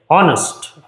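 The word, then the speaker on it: honest: ऑनेस्ट। आपको लगेगा एच से है। लेकिन प्रोनाउंसिएशन कैसे हो रहा है? ऑनेस्ट।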